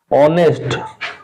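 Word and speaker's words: honest: अच्छा फिर एक और दूसरा रूल लिखो, it's used before word beginning with H when H is silent।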